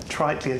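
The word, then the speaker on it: Triteleia: Tritlia.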